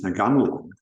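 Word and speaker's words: Ngannelong: It is pronounced in English Nagunlong and basically refers to, in the original Aboriginal language, to a very bad place.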